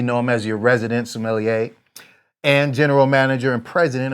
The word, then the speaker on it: sommelier: And so I'm going to taste yours now as you talk about the sommelier. How do you pronounce it?